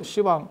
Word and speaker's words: 시왕: 원래는 10왕. 근데 이런 거는 또 시왕 이렇게 불러요.